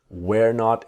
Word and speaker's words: weren't: Now with just like was not to wasn't, were not is weren't. But of course, the T is silent.